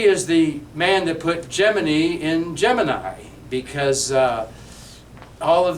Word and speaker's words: Gemini: it's to be called Gemini Bob, like Jiminy Cricket, right?